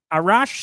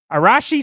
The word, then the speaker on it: Arashi: Arashi Sengoku. I almost thought I got it right and you ruined it. Arashi Sengoku. Word Rashi in it. How can you mispronounce Rashi?